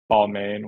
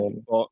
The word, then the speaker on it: Balmain: I think it's pronounced like Balmain, Balmain. Balmain.